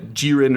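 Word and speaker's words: 기린: Uh in Korea, uh Girin or Kirin uh with a G for the first one, they have been extensively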